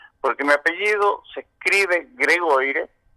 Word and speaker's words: Gregoire: me dice, mira pibe, pero este apellido es francés, ¿no es cierto? Sí, es francés. Ah, bueno, entonces se pronuncia Gregoire, y lo acentuó así, Gregoire.